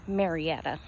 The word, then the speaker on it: Marietta: Not only in my county, but in my city, Marietta, or Marietta, as it's supposed to be pronounced.